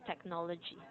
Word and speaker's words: technology: you have a habit of saying technology. Mm. You're omitting the last syllable. Mm. Okay? So, mhm, be aware of when you say technology.